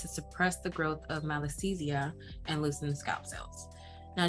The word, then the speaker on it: Malassezia: Malassezia. Malassezia. Malassezia.